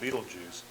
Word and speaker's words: Betelgeuse: baby leaves I mean you would spell it Bailey's but you pronounce that Beetlejuice and it's that star